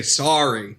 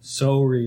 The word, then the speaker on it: sorry: They say a long O sound. They don't say... When I pronounce it, I say sorry. S-A-H-R-Y. But no, with them, it's like S-O-H-R-Y. Sorry, like they're soaring through the sky.